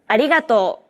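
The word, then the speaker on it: ありがとう: okay then now listen and repeat after Risa arigato now you try arigato your turn again arigato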